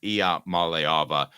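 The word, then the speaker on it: Iamaleava: Mala Mala I malava I was just kidding IIA malava um so a couple of other questions let's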